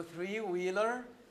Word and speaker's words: three-wheeler: you know three-wheeler yes so three-wheeler now again on the first syllable on the first syllable